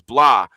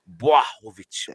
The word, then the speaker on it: Błachowicz: It's Bwah, BWAH, and that's why I couldn't get it. I thought it was blah, and I'm going blah bitty blah, and he's going no, Błachowicz, Bwah.